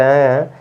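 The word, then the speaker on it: who: देखिए rule number 12 12 में कह र है कि अगर डब्लू के बाद एओ हो क्या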